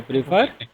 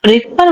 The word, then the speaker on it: prefer: आई प्रीफर I prefer Diamond to diamond to gold. Gold. Diamond to. एंड सर उसे प्रेफर बोलते हैं, प्रेफर नहीं ना, प्रीफर।